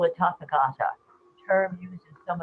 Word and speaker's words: Tathagata: May I just point out that the way that I have heard it spoken in India many times is the Tathagata. The accent on the second syllable, Tathagata, Oh, that's or whatever.